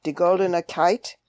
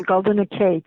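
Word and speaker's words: Di Goldene Keyt: I will mispronounce this, so correct me. In Die Goldene Kite. The Goldene Kate. Kate.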